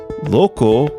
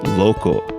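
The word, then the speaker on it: loko: is hawaiian for lake please do not confuse loco which is spelled l-o-k-o for lake and local spelled l-o-c-a-n which is something or someone belonging or relating to a particular area thank you once again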